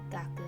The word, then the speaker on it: 学: kanji is pronounced chu and the second gaku again another review kanji